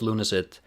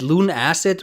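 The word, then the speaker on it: Lunacid: props you for pronouncing like lunacy instead of acid as everyone else seems to uh I was uh this is the conversation I had with Kira the creator of Luna it I asked Kira is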